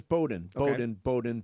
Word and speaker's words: Bowden: And I apparently when I was talking to Lincoln Riley this week, I mispronounced Chad's name. It is Bowden. Bowden.